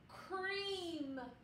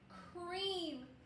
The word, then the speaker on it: cream: see the word is cream cream we have our vowel team ea that says e so the word is